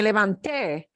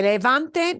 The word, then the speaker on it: levanté: And also, I wanted you to see why that pronouncing me levanté, it's so important to hit that te. Me levanté makes it past. Me levante means something totally different.